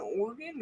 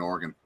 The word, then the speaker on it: Oregon: why I was saying Oregon just a second oh here's a question do you pronounce it organ or Oregon Oregon Oregon the town